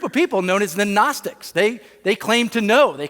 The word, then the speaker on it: Gnostic: And by the way, even 2,000 years ago, there were a group of people known as the Gnostics, right? It's spelled G-N-O, Gnostic, like agnostic, people that would say, I don't know, right?